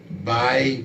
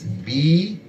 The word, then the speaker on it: Bai: We also have another Bai Bala, that's B-A-I, and the last name is spelled G-B-A-L-A, Bai Bala.